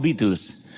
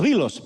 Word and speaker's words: Beatles: llegaron a los vos pero nosotros en Argentina decimos Beatles Ed pero son los bilos pero en Argentina nosotros